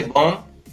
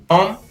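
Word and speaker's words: bomb: अगर किसी शब्द के अंत में MB होता है तो उसमें B है वो साइलेंट रहता है, जैसे बॉम्ब, बॉम्ब, बॉम्ब, वॉर्म, डम, लैम, क्लाइम, टम।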